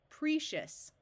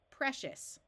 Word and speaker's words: precious: This is an open syllable, so we try the long sound first. Precious. That doesn't sound right, so now we switch to a short E sound. Precious.